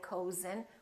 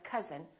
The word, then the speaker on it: cousin: but number But also, sometimes this sound is spelled with O U as in words like cousin. My cousin. We don't say my cousin, we say my cousin.